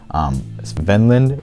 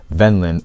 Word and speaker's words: Kvenland: Along that land northwards, Kvenland, or Kvenland is, I guess, how they say it. It's spelled with a K, but they're pronouncing it with a C.